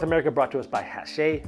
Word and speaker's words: Hachette: brought to us by Hachette. It's kind of spelled like hatchet with 2 T's.